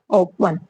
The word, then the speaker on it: often: ओपन, ओपन में भी क्या है, टी साइलेंट है, ओके।